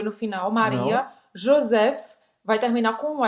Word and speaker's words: Joseph: Não, Joseph. PH em francês tem o som do F, como em pharmacie. Farmácia em francês se escreve assim, mas pronuncia pharmacie.